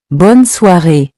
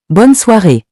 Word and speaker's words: bonne soirée: Continuing with bonne soirée. It means have a good evening, and it's used when you leave someone in the evening. Say it with me. Bonne soirée. Bonne soirée.